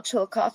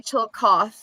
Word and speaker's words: Chillicothe: Chillicothe.